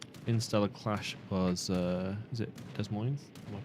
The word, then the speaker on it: Des Moines: Interstellar Clash was, is it Des Moines? Am I pronouncing it correctly? Yeah, Des Moines.